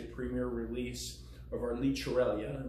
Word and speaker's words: Llicorella: premier release of our liter Eliana which is how you pronounce it in Catalonia it's a wine that